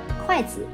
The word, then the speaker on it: kuaizi: The pronunciation of chopsticks in Chinese, kuaizi, is similar to the words for quick and son, which means to have babies soon.